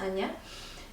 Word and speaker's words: Anja: called uh anya and anya is written like a n j alec anja anya is pronounced as anya because jay is actually yacht in german so you can check